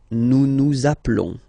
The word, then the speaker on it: nous appelons: Nous appelons. Okay, final S doesn't exist.